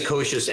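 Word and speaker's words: Kouzes: It's James Koshis and Barry Posner.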